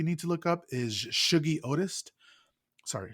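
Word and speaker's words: Shuggie Otis: would say you need to look up is Shuggy Otis. Sorry, Shuggy Otis, and it's spelled Shugggie, and then last name Otis.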